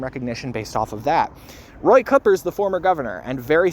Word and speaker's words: Cooper: a little while, that his name actually is pronounced more of the native way to where he grew up rather than the standard Cooper. So it is Roy Cooper, for anyone who didn't know that.